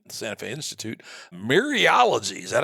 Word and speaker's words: mereology: Mereology, is that how you pronounce that? Mereology, that's again the whole parts whole.